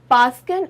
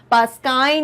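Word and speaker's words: Paskin: सबसे पहले तो ये पास्किन और बास्टिन है, इनका प्रोनाउंसिएशन, इसको पास्काइन या बास्टाइन कहने की बिल्कुल आवश्यकता नहीं है, ठीक है? हमें करेक्ट प्रोनाउंसिएशन सीखने हैं, तो पास्किन एंड बास्टिन।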